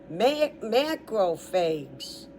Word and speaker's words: macrophages: The next one, macrophages, M-A-C-R-O-P, crop, like crop, but phags, one P, and P-H is an F sound. So the new title is macrophages.